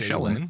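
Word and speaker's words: Shelyn: In They pronounce it Kingmaker, that way, they say Shellen.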